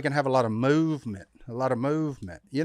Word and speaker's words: MVMT: and clean original designs mvmt pronounced movement our buddy zip movement